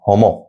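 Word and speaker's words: Homo: তো গণ বা জেনাস, আমি যদি এবার গণ বা জেনাসের কথা বলি, তাহলে এটা হচ্ছে হোমো, উচ্চারণটা হয় হোমো।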